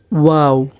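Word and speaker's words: واو: নুন তারপরের হরফটা হচ্ছে ওয়াও ওয়া উচ্চারণ করার সময় আমাদের মুখটা গোল হবে এবং মাঝামাঝি আসলে মুখটা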